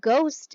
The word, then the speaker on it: ghost: like a good so it's almost like the H is silent another tricky word that